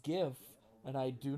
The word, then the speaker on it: GIF: it it's uh it's gif not jeff i don't want to